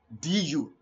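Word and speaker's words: deux: the end so it is the same as du d d that is two therefore El I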